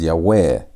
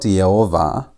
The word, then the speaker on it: Yahweh: When you're looking at this word, you had to pronounce it as Yahweh. Not Yovah, but Yahweh. Not Yah, but Year.